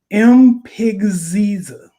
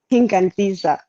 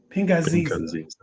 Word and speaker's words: Pinganziza: We have Mpigziza. That's not too bad. That's bad. How should I pronounce it? I want to make sure I get it right. It's Pinganziza. Pinganziza.